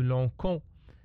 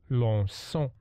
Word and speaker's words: lançons: Alors, si on n'a pas mis ici la cédille, on va dire nous lançons. Et c'est faux. Alors, on ajoute la cédille pour prononcer nous lançons, nous perçons.